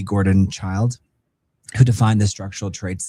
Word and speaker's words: Childe: Gordon Childe, or I think that's how you pronounce his name. Do you guys let me know? No, in the chat. It's Childe.